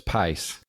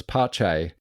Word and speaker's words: Pace: I thought that was pace. Yeah, we also... I didn't realise the correct pronunciation was Pache.